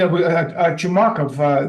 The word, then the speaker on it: Chumakov: Americans which what do you think I mean chumak of that's the correct pronunciation of his of his last name he's